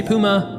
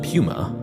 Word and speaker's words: Puma: Again, depending on where you're from, you may say Puma or Pummer.